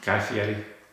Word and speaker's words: Guy Fieri: Guy Fieri.